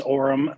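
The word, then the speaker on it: Orem: live from is it is it Orum Utah is that how you say it it is Orum yes good to have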